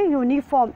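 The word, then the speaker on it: uniform: यूनिफॉर्म, अच्छा यूनिफॉर्म बेटा यू से स्टार्ट हो रहा है, वॉवल है यहाँ पर, लेकिन जब हम प्रोनाउंसिएशन इसका कर रहे हैं तो यू आ रहा है, यू, या आ रहा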